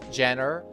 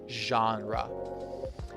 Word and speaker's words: genre: Remember, it's not genre or Jenner genre.